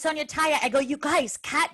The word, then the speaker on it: Sonya Tayeh: like when we were talking about how to pronounce it they were like it's sonia taya i go you guys